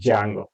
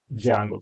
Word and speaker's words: Django: a web framework called Jango okay Jango it's like a Django name but people we have to call it as ajango here the D is silent here okay Jango there are